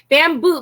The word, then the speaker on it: Bambu: Bamboo, but it's spelled B-A-M-B-U.